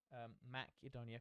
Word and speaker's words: Macedonia: Macedonia, because that's the correct pronunciation.